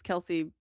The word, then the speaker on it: Kelpsey: It's, So it's Kelsey, but the P is silent, right?